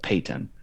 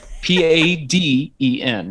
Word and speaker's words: Paden: And I just get called Peyton. Um, With a T, which doesn't even make any sense because you've got a D. So Yeah. spell it out. Paden.